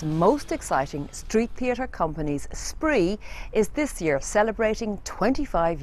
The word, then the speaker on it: Spraoi: suggested we call it spree. We had to ask what it meant. She said it meant celebration and exuberance. And someone said, "Let's go with it because it rhymes with 93."